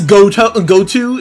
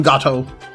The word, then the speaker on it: Goto: His name is Goto is what they call him, but I'm calling him Gato.